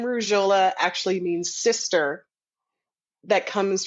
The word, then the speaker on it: Rujholla: Rujholla. Rujholla. Rouge like the color red in French, and hola like hello in Spanish.